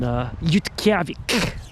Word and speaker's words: Utqiagvik: I say, I spoke to those Eskimos in Utqiagvik. That's how they pronounce the town of Barrow, Alaska. They don't call it Barrow. That's the English name. They call it Utqiagvik.